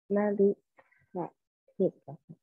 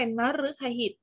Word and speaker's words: นฤคหิต: ค่ะ ขอบใจ มาก จ้ะ เรา ไม่ อาบ นะ ริ ตะ ฮิด นะ คะ เพราะ ว่า เมื่อ รึ ตาม ตัว นอน หนู ต้อง อ่าน ออก เสียง รึ นะ คะ ดัง นั้น ต้อง เป็น นฤคหิต แปล ว่า อยาก น้ำ